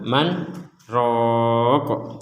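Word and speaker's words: مَنْ رَاقٍ: Man rq bisuratil Qiyamah Man Ro Jadi di sini ada huruf Sin disebut sebagai saktah cara membacanya adalah Man kemudian diam sejenak kemudian roah tapi tidak lama-lama Man ro kemudian walam ada juga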